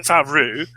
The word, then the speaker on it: Favreau: And for them to left-handedly, through the great Jean Favreau, I always give him the French pronunciation, they're going to say, actually, this is the prophecy.